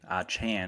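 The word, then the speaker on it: Achane: Chan is how you say his name, not Chain.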